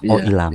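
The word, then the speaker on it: Oh Il-nam: yang si kaki-kaki itu namanya oilmam oilam oilam bacanya oilam ya bacanya oilam oilam Ya oke oilam dan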